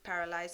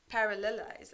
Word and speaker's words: parallelize: stage that is done pretty straightforwardly with Sparks paralyzed operation so what you do is that you just broadcast the data set to each of the node and paralyze the parallelize I'm so sorry I've been pronouncing it wrong